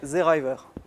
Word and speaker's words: Seeraiwer: En alsacien, si on veut le prononcer en alsacien, ça donnerait Zeriver.